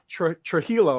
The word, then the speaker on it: Trujillo: uh Miss Chloe now Trujillo right is that how you pronounce it Trujillo yeah all right I